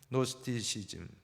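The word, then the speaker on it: Gnosticism: 영어로 하면 로스트 시즌입니다 노스트시즌 노스티시즘 그는 주인은 발음하지 않습니다 묵음으로 어떤 것입니까 물질은 악하고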